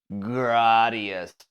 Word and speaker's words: Gradius: called compromise that's called the most pretentious way to say the word yeah gradius how about that we finally learned this is according to how it's spelled in Japanese so graus and uh I've lost